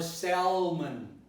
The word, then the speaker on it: salmon: I think everybody notices that there is an L here, and that many people have a tendency to pronounce it salmon or salmon. In both cases, it would be wrong, because in English you don't pronounce this L. So it's a silent L.